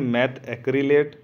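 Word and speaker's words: methacrylate: तो इसे क्या बोला, कुछ लोग बोलते हैं इसे पॉली मिथाइल मैथा एक्रिलेट, लेकिन ये ऐसा नहीं है। ठीक है, क्योंकि आप इसकी स्पेलिंग देखोगे तो मैथ अलग है और एक्रिलेट, जिसे हम ए को हम मैथ में जोड़ रहे हैं, मैथा बता रहे हैं उसे, लेकिन वो मैथा नहीं होता है, वो ए जो है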